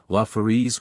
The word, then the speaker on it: Lafarise: Rhyming with thrice, Corineus rhymes with Flaminius, Galing with sailing, Lafarise with desire ease, Ch is always guttural, as in Locke.